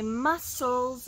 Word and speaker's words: muscles: i work out my muscles get strong muscles notice the c is silent muscles don't say muscles